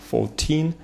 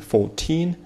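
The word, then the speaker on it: fourteen: 14, здесь ударение на teen, 14, дальше у нас 12,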